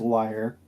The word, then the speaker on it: lyre: just so I can stop cringing, it's pronounced liar. Oh, thank you. I'm sorry. It's okay. Wait, did he Yeah, say but I wouldn't mind leer?